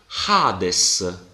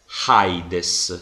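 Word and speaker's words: Ἅιδης: questa parola si legge Hades non si legge heides si legge Hades e questo lo capisco perché Spirito 100 stanno sul primo elemento del dittongo e non stranamente su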